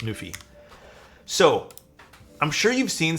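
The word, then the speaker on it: NuPhy: So this is a board by I believe it's pronounced Nufi.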